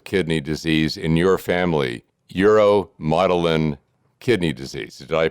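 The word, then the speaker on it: uromodulin: And it wasn't until 2016 that genetic testing revealed the cause of kidney disease in your family, uromotilin kidney disease. Did I pronounce that correctly?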